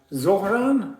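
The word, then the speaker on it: Zohran: Zoran. How do you say it? Zor Zor like Zoro.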